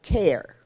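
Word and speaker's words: KEHR: you're going to see This Acronym k e h r and I've been told that sounds like care well you got me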